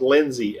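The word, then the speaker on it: Lenzi: insole, is a compound or a material called Lindsay, L-E-N-Z-I, I believe is how it's spelled.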